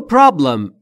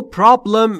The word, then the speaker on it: problem: در مورد تلفظ problem دقت بکنید. Problem نیست دوستان. Problem به این دلیل که بین P و R صدایی وجود نداره. ما هم نباید صدای اضافه بکنیم.